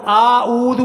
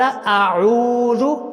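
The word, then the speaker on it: أعوذ: بہت سارے لوگ یہاں پر اعوذ پڑھتے ہیں، وہ آ کو یعنی کہ حمزہ کو لمبا کر دیتے ہیں، جبکہ یہ بہت بڑی غلطی ہے. تو صحیح تلفظ کیا ہے؟ قال اعوذ، عین کو لمبا کرنا ہے.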